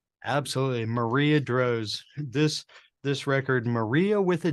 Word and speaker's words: Marija: Well, her name is spelled Marija, and there's a lot of confusion. The J causes a lot of confusion. So we called the record Marjia, as typically we would spell it here in the United States, Maria, Marjia with a J.